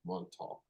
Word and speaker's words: Montauk: me in Montauk I think that's how you pronounce Montauk yeah that's right yes a little tricky there